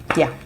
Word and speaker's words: jag: J-A-G is pronounced as yeah. The J is pronounced in English, I think it's pronounced in English as Y, yeah. And the G in J-A-G is silent when you're pronouncing.